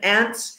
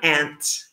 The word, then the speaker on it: aunt: Aunt or auntie, which how do you say it? I say aunt. Yeah, both are correct. Also, aunt, how you say it, I mean, I would say grass, you would say grass. Yes, exactly. But this pronunciation is also common in England, especially in the north of England.